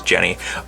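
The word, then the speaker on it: Genni: er Jenny or Jeannie I remember when she was first revealed it was Jeannie but looks like they've changed it to be how it's pronounced over in Japan which was Jenny we also have the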